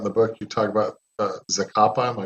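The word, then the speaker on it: Zacapa: talk about in the book you talk about zakappa my pronouncing it right yep it's a kapa also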